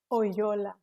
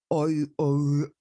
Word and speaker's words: Oyola: How do you pronounce it again? Don't make me laugh already. Oyola. Oyola. That was the Lola. Oyola.